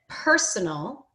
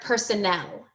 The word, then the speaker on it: personal: So when you said personal, I think I heard personnel. Can you say personal? Personal. Do you know the difference Personal. between personnel and personal?